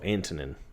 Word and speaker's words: Antonin: Amanda, had texted me, "Did you hear about Anthony Scalia?" Oh, Antonin. I always say his name wrong.